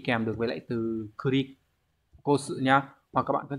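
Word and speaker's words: 繰り越して: Từ này đọc là kurikoshite.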